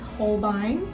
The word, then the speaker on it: Holbein: first off we have how did you pronounce it it's holbein oh okay okay i got it right you did get it right yeah so first off we have hold up holbine it's a pretty like